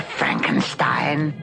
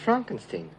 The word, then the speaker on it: Frankenstein: Frankenstein Frankenstein you're putting me on no it's pronounced Frankenstein do you also say